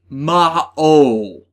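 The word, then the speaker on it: Maou: being translated as for Mau Digimon that is the actors mispronouncing game is translated and also untranslated word as the word is actually ma o ma o or if you were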